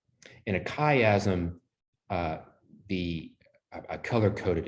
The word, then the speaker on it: chiasm: the chat so you know kind of how it's spelled c h i a s m the chiasm from the greek letter chi or